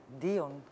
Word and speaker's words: Dion: Μές που το DON TV το λες με προφορά Dion TV.